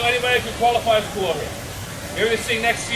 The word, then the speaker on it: kolohe: very mischievous, or as we say in Hawaiian, kolohe. All right, I need your help here, friends. E hoa pili mai, repeat after me. Kolohe.